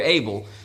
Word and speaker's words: Abel: Abel is named Havel. And of course, we say Abel, but it was like Abel, Havel, Abel, but America, Abel. we kind of like to pronounce things that way.